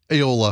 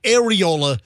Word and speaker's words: Aola: Lake Aola. Aha! I wasn't that far off. It's not areola.